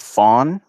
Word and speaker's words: Fang: and it paror to the Fang tribe in gaban even though they pronounce it Fawn and so that just